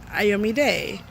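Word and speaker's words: Iyome Day: And what we do is we say it slowly for others to get it, and then we spell it out. and the letter, Day, D-A-Y.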